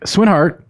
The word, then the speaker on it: Swinhart: And I'm here with Swinhart. Did I pronounce it right? Yes.